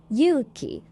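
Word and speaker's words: ゆうき: Yuki means courage. Yuki means snow.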